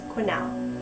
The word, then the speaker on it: Quesnel: It's spelled in an interesting way and it could be pronounced a lot of different ways, but I'm going to assume that it's Quesnel.